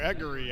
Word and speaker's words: Aguirre: Aguri, I think. I think you might be right. It's not Aguirre.